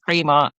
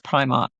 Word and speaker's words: Primark: Like if you're from Scotland, it's Premark. If if you're elsewhere, it's Primark.